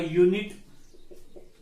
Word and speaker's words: unit: the meter is a unit of length unit again it begins with u but sound is a so there are